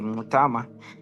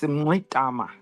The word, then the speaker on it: Mngxitama: Yes, my name is Andile Mngxitama. It's got those clicks which we inherited from the Khoisan. That's the sound. How do you say that sound, Andile? Is there a click to it? Yes, Mngxitama.